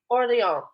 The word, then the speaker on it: Orléans: Orléans. With a silent S.